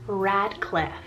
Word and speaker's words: Radcliffe: is so overlooked so we have the name radcliff spell r-a-d-c-l-i-f-f-e who ever thought of this for